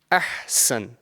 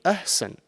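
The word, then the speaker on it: أحسن: So if over here I have this one word, ahsan, yeah? Ahsan. And it's very, very common that someone can, mispronounce this and say ahsan.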